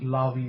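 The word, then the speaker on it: Levi: I am from the tribe of Lavy sometimes pronounced la vie as well and we are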